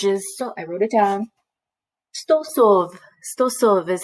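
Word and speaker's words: сто сов: Stosov.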